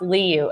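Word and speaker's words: Liu: report last week doctor i think it's pronounced li you l i u and the v i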